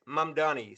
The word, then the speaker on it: Mamdani: right or not but it is Mamdani so many people have mispronounced his last name but there he is